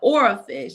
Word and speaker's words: oarfish: It's OAR fish. And it looks like a anaconda snake, like a snake.